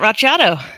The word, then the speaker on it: Racciato: Hi, my name's Racciato.